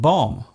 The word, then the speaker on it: bomb: For example, the B in comb, womb and bomb.